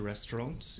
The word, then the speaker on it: Restaurant: Das Restaurant. The restaurant. In German, we don't pronounce the T on the end because this is a French loanword.